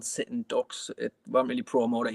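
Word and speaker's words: Dux: But the Ducks is spelled D-U-X. Okay. Just to be awkward.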